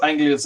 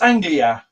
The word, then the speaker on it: Anglia: you know it's amazing how many people don't know how to say the word Ford Anglia I've heard Anga Ang Anga and it's Anglia Anglia but um yeah no